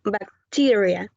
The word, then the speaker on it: bacteria: and bacteria has four syllables in the more stress in the second one bacteria bacteria okay thank you